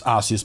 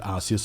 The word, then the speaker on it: Arceus: of arceus and it's arceus by the way that's how you pronounce it that's how the japanese commercials pronounce it and you might have